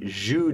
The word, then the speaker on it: Zhou: poetic tradition it's in the Zhu Dynasty z-h-o-u we spell it in English that we start to